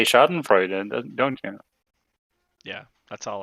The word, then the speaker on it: Schadenfreude: So for example, the word Schadenfreude, the German word, is basically the exact word in Norwegian.